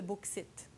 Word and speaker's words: bauxite: Eh bien, c'est bien écrit, sels minéraux de bauxite. Qu'est-ce que le bauxite? Ça s'écrit B-A-U-X-I-T-E.